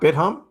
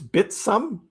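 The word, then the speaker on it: Bithumb: It's not bitum. It's bitsum or beatsome. Beatsum. It's a Korean pronunciation, I guess. So, beatsum. I I'll never call it beatsum. I'll always call it bithome.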